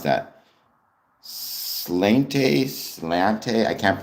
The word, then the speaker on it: sláinte: Slainte? Slainte? I can't pronounce it, but I believe that is the traditional Irish greeting. Oh, it's a cheers. It's pronounced slainte or slainte.